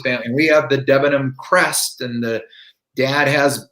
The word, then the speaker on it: Debenham: debenham oh cool the debenhams came from that village migrated over to america and so the the correct pronunciation of my name is debenham i actually better but we say dubingham and my father has